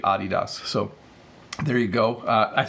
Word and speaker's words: Adidas: all North Americans because we usually say adidas like hey those are nice Adidas shoes you have but it should be my understanding that this is a German company and it should be adios so there you go